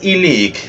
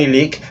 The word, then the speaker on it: Ilich: La muerte de Iván Ilich, de Lev Tolstoy. Sí, en ruso ya traducido, la CH se pronuncia como una K.